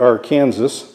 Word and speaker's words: Arkansas: I'm just calling this Crooked Creek, but this represents the Arkansas River, or as we pronounce it here, the Arkansas, in western Kansas.